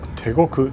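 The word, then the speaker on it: 대곡: It's pronounced in Korean as Taegok Station.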